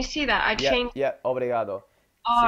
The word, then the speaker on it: obrigado: 2 tudo bem obrigada do I say obrigado obrigado I was wondering about that oh yeah well that's yeah that's that's good you say obrigado it's just I had